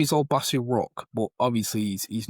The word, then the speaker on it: Obasi: Obasi.